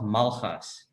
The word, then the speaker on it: Malgas: my name is malhas yeah see it's that g in your last name that i just can't pronounce it's like you have to use the back your tongue or something yeah it's very challenging